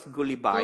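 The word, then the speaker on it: Gulibay: It's pronounced as Goullibby.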